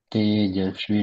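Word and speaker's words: तेजस्वि: विना वध त मस्तु तेजस्वी नावत मस्तु इसमें तेज नहीं है स का शुद्ध उच्चारण करेंगे तेजस्वी ना वध त मस्तु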